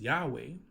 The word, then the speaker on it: Yahweh: Well, we all are pretty much at understanding that the first part is Yah. Now, we understand that it is Yahweh because it was not necessarily lost.